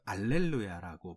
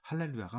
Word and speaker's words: 할렐루야: 우리가 라틴어에서 가끔 할렐루야를 알렐루야라고 발음할 때가 있어요. 많이 있거든요. 근데 이게 H, 그러니까 히읗 발음이 빠지는 거예요. 앞에. 이게 발음이 없으니까 못하는 거예요. 그래서 히읗 발음이 가끔 빠지는 현상들이 발생하거든요. 그 중에 하나가 이게 할렐루야, 알렐루야 이렇게 있는데 알렐루야라고 얘기한 건 라틴어식 발음이고요. 이건 정확한 발음이 아니죠. 사실은 할렐루야가 맞죠. 그래서 할렐루야로 보는 것이 더 맞아요.